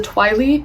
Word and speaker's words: Twili: the Twilight realm, and I believe it's pronounced the Twily people.